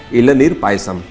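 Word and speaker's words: Elaneer Payasam: Y silent होता है इलनीर पायसम.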